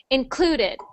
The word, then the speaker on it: included: good and not um this one was is um about the stress on the syllable so it we put we stress the syllable clue so we say clue the loudest so included included included in okay